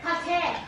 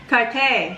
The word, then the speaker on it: Cartier: Sa how you pronounce it? Cartier. Cartier.